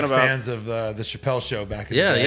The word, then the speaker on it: Chappelle: This is Chappelle. Is that how you pronounce it? Yes, y'all pronounced it right. It's not Chapel.